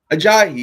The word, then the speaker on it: Ajayi: Ajayi, yeah.